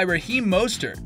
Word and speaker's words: Mostert: running backs led by Raheem Mostert (pronounced Most-ert, not moss like on a tree) who can pound the rock without him.